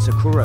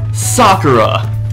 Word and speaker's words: Sakura: get old but really Sakura anyone anyone who has ever watched the anime knows it's pronounced Sakura even in the Japanese version it's pronounced Sakura okay I don't know where